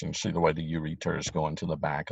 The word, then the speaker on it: ureter: goes that you return i'm saying it wrong so you can now sing it wrong so you'll spell it right ureter you are ET ER that's normally the way you pronounce it okay don't forget your